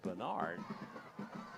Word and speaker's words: Baynard: And that is pronounced Bernard. Spelled B-A-Y.